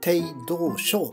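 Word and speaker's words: 鄭道昭: 帝道省と読みます。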